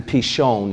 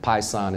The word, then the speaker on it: Pishon: So the first river is, it's actually Pishon is how it's pronounced, but Pison is how most people pronounce it.